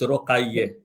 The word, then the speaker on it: رقیه: I'm going to give you the right pronunciation. It's رقیه.